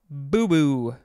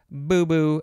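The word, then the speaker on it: boubou: I think it's boo-boo. B-O-U-B-O-U. Noun from 1961. A long flowing garment worn in parts of Africa. This is from a Malinke word. I think that's how it's pronounced. Maybe.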